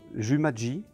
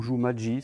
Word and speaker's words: Jumathsji: Le jeu s'appelle aujourd'hui Jumaji. Alors, ou Jumaji, ça dépend comment on va pouvoir le prononcer.